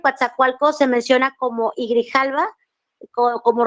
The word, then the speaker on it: Coatzacoalcos: Grijalva uzumacinta el Río Papaloapan y el río Coatzacoalcos para que sepa la pronunciación es el Río Bravo o sea los